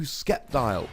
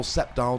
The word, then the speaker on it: Sceptile: of Gengar today I'm showing you skepti or septile depending how you would like to pronounce it I'm not going to